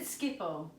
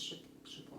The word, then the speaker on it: Schiphol: Is that how you say it? Schiphol? Yeah. I always said Schiphol. No, it's Schiphol. Okay. Schiphol. Everyone says Schiphol.